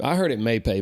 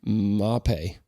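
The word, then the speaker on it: Mapei: I heard it Maypay my whole life, Maypay, but that's not right. That's not right. That is Western North Carolina right way to say it. Mapay.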